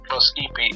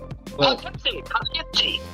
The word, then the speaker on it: Poughkeepsie: He was from, Pluskipy or Plukiski. Is that Pluskipy? Is that how you pronounce it? Poughkeepsie.